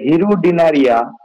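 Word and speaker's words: Hirudinaria: যোগ, যোগের বৈজ্ঞানিক নামটা হচ্ছে হিরুডিনারিয়া অফিসিনালিস।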